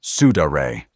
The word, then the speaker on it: sudare: Let's start with the first method, the sudare, pronounced sudaray.